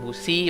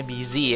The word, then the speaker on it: busy: Ini bacanya bukan busi bacanya busy ya, with work and everything.